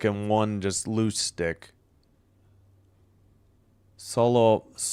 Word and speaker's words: Solovyov: Solovyov. It's Solovyov. Solovyov. I have no. I gotta ask. Gotta look for a pronunciation guide.